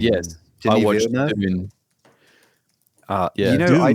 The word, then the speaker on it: Dune: is this a June? June? Dune.